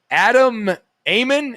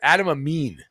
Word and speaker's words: Adam Amin: team guest gun and this game on fox adam eamon am i getting that right out of the